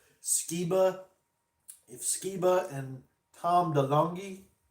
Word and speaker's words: Skiba: Like I said, Skiba. If Skiba and Tom DeLonge, they wouldn't fight. They wouldn't fight each other. They like each other. Skiba inspired DeLonge. That's how you say it.